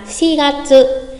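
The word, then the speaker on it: 四月: Nhắc lại, chúng ta có 3 tháng đặc biệt. Tháng 4 là Shi Gatsu.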